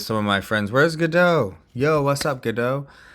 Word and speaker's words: Godot: it's i don't know i just feel like godot is two real words put together and godot godot is like easier to say the t is silent so anyway guys um